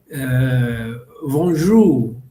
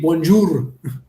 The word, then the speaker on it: bonjour: They speak it with the throat, not with the mouth. Right. That's the only problem we have, because we were speaking like, for example, bonjour. We speak bonjour because we pronounce the R like really Spanish.